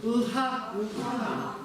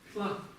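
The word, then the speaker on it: ལྷ: Я читаю это как ла-ха-та-лха. Лха. То есть не ха, а лха. Есть тибетцы, которые читают это наоборот. Хла. Хла. Таких много. На востоке Тибета есть диалекты, где читается не лха, а хла.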